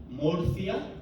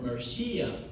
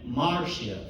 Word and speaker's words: Murcia: I'm coming from Spain, from a place called Murcia, or Murcia for most of Europeans, and even Marcia for some Americans.